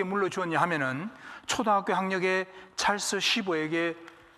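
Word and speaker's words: Schwab: 강철왕 카네기가 자기의 기업을 누구에게 물려주었냐 하면은 초등학교 학력의 찰스 쉬버에게, 발음을 잘 쉬버입니다. 쉬버.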